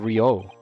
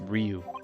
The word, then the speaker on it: Ryu: where are you oh i've been saying rio it's ryu ah this is